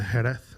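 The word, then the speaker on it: Jerez: or 21 of us we're in Spain uh herath which was like south of Seville good pronunciation you speak Spanish no no I can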